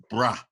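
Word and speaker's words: braai: chops when I make a traditional South African bra we have to say bra in croydon a BBQ cars not pronounced so we will be barbecuing in UK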